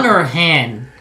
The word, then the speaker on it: Han: Han kind of, or Han? It's Han Solo, not Han Solo. Come on. I use the world pronunciation of A. Ah. Han Solo.